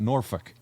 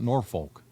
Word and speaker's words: Norfolk: saw on social media that's how the locals say it norfolk okay not norfolk to watch the horsemen